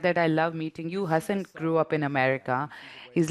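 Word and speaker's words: Hasan: He's like, my favorite part of meeting you is you always speak to me in Urdu, and you always pronounce my name Hassan and not Hassan.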